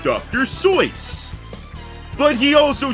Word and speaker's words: Seuss: did you know that it is not actually pronounced Dr Seuss I choose not to believe that because it is I think German or something it's pronounced Dr so but he also said he didn't care either